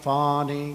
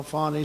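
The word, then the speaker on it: Fani: attorney generals and fawny fonnie you know fonnie spelled f a n i my name is fonnie f a n i i don't figure it she put a little French accent on the word with her lover Wade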